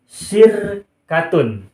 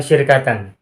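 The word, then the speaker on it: شركةٌ: Maka kalimat ini cara bacanya adalah laisat lakum syirkatun, bukan syirkatan. Kenapa tidak syirkatan?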